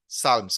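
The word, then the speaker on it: Psalms: भगवान की प्रशंसा में उसको गाया जाता है, उसको टी साइलेंट है, साल्म्स कहते हैं।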